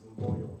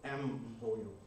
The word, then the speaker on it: Mboyo: I actually learned to pronounce my first name, Boyo, with a nurse that was actually Flemish. So she couldn't understand that you actually pronounce it Boyo. She would tell me it's M. Boyo.